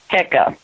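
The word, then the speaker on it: heka: had a word called hecka and that the pronunciation of that is is not how they used to say it but it is hecka they were all together and for them it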